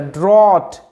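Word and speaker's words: drought: আচ্ছা ড্রট, এই যে OUGHT, এটার উচ্চারণটা অট, কেমন উচ্চারণ হয়, অট। আচ্ছা তার সাথে ডিআর, ড্র, তার সাথে অট, ড্রট।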